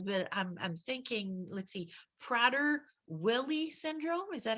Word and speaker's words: Prader-Willi: And I don't know how to pronounce the syndrome that he has, but I'm thinking, let's see, Prader-Willi Syndrome. Is that how it's pronounced?